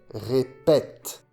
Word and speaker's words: répète: Le son et, répéter, devient est, répète.